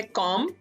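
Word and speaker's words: comb: Then है कॉम, कंघी करना, कॉम. बॉम, बॉम, बम जिसको कहते हैं उर्दू में, बी साइलेंट है यहाँ पे भी.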